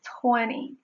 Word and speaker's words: twenty: So if you see the N and T phonemes in a row, you may pronounce it with the N sound only, dropping the T.